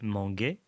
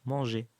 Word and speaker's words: manger: de mètre 1 e sinon ça fait manguet et non manger donc le eu est